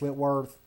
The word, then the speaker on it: Whitworth: I want to replace Whitworth Is that how you say his name? Yes, Whitworth.